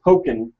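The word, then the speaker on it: Pokkén: And it's called, I guess it's pronounced Pokken, because Pokemon. Oh, I get it.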